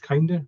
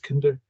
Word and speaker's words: Kinder: It's spelled George Kinder, but it's pronounced George Kinder, another American.